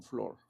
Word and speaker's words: floor: ¿Cómo se dice piso? Como floor. Flor. Sí, como una flor.